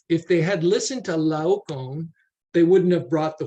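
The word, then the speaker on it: Laocoön: And then Laon uh in case you're wondering how to pronounce that person's name.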